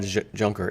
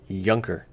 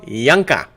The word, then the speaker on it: Juncker: and some 1% Joe it's not pronounced junk jean-claude juncker it's Younker with the J becomes a why kind of like Julio Giulio Julio okay jean-claude yonka like yank yankovic may